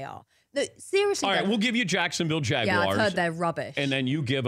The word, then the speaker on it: Jaguar: jugulars right all the Jaguars well but the English pronounce you are yeah and we say it's Jaguar and I have to say on air Jaguar which I find incredibly difficult and sometimes my research